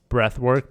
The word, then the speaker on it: Breathwrk: There's also another app I love, which is Breathwork, BREATHWRK. Or maybe it's BRTHWRK. They spell it in a weird way, but it's WRK for work.